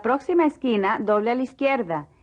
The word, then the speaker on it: izquierda: Doble a la izquierda. The Z is pronounced like an S.